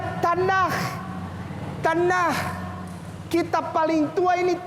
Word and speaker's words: Tanakh: Ya, dibacanya Tanakh.